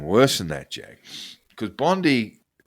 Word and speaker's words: Bondi: I still call her Pam Bondi, but it's Bondi. I think they call it. They pronounce it that.